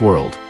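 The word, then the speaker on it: Juice WRLD: Jared Anthony Higgins known professionally as juice World pronounced juice World stylized as juice world was an American rapper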